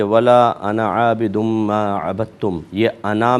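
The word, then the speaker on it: أنا: देखें जिस किरात को आजकल हमारे यहां फॉलो करते हैं उसमें इस अलिफ को साइलेंट पढ़ा जाता है। गोया कि लंबा नहीं खींचा जाताना। नून ज़बर ना पे ही बात खत्म हो जाती है।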